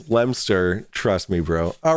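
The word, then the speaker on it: Leominster: I'm in the UK where the original Lemonster is. It's Lemster.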